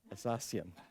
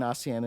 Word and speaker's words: ASEAN: for you I I don't understand why you pronounce Asian assassian you know you've learned the language well since you immigrated it's about time you you you do pronounce it correctly and so that started this process of trying to explain Asen and then we had